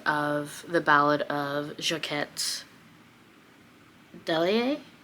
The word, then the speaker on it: Delahaye: Delahaye, I think is how you pronounce it.